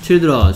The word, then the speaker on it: children: 그리고 얘는 발음이 Child가 아닙니다. 뭐 이로 발음 한번 볼까요? 어린이들 Children. C-H-I-L-D. 그 다음 R-E-N. 그렇죠. 얘는 Children인데요. 얘는 Children인데요. 아이가 무슨 소리 내고 있어요? 이 소리 내죠.